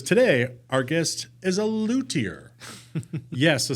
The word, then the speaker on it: luthier: So apparently I didn't know there was a silent H in luthier, and it's luthier, but I guess there's